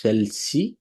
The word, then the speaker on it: celles: যখন স্ত্রীবাচক হবে আমরা যথারীতি আমরা জানি সেল ব্যবহার করব, এটাও কিন্তু সেল, এস উচ্চারণ হবে না, সেল।